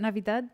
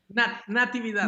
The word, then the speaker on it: Natividad: Was it Navidad? No. Who? Natividad. Natividad. Did I say it right?